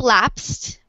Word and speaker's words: lapsed: Well, it's pronounced like lapsed. The E is silent in that ED ending.